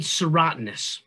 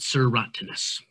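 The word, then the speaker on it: serotinous: tree has cones that are called serotoninous that's how we pronounce it sir rottenness i'll show you on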